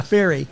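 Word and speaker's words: Fery: Fairy.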